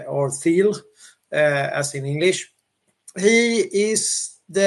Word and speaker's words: Thiel: As I usually say, Brian, Peter Thiel, or Thiel, it's hard to pronounce or Thiel, as in English.